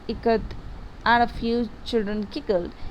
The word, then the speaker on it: Ikat: Someone spelled Ikat, and a few children giggled. Chanki teachers said it is pronounced I as it ka and in Kamala T as ta.